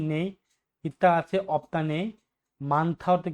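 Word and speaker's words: 많다: মানথা অর্থ কি বেশি বা অনেক, মানথা অর্থ কি বেশি বা অনেক। এটা কিন্তু আপনার মান্দা উচ্চারণ হবে না, এটা কিন্তু মানথা হবে উচ্চারণ।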